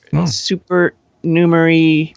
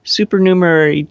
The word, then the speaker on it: supernumerary: of teeth there are super numery fingers the other yeah you have six instead of five but it has more more one more syllable than i thought supernumerary digit supernumerary nipple yep